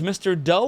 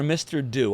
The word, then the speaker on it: Mr. Do: Do as in do it live.